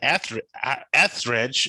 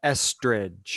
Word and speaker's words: Estridge: Tristan Etheridge. It's just like pronounced just like Melissa Etheridge, right? No, Estridge.